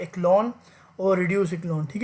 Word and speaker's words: Echelon: ठीक है, इसे कभी कभी कुछ लोग इचलॉन भी कहते हैं क्योंकि सी एच का प्रोनाउंसिएशन कभी चे से भी हो रहा होता है। तो इचलॉन और समवन से इक्लोन, सो no problem with that pronunciation.